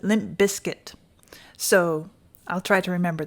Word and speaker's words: Limp Bizkit: Bizkit or I think Carl says we pronounce it Limp Biscuit so I'll try to